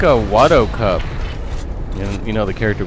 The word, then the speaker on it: Watto: The way that guy says it, instead of Watto, he pronounces it want to. I don't know why he pronounces it that way.